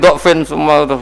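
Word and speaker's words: ضُعْف: Pengucapannya diawali dengan "dammah" , jadi "du'f", kan?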